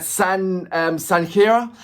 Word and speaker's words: Sanghera: The Kid Sukh at Sanghera. Let me know the way how I'm pronouncing the surname. So I've got The Kid Sukh Sang, as in S-A-N, Sang, and Khaira.